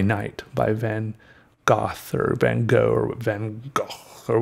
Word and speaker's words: van Gogh: everyone is talking about it's okay if you want to be a little bit snobby or a little bit Dutch or whatever and want to say his name has been something else that's okay but we say van Gogh and everyone gets along fine starry night was